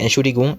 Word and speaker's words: Entschuldigung: Nous avons le mot Entschuldigung a 4 syllabes en tout. On a la première syllabe qui est ent, la deuxième syllabe qui est schul, la troisième syllabe qui est gung.